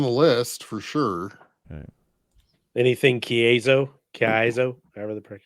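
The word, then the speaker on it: Kaizo: Anything Kazo, Kaiso, however the how you pronounce that. Kaiso.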